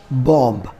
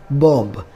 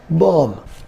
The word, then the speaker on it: bomb: my first word is bomb we often read this word like bob but the last b is silent here and we should call this word like bomb second word is doubt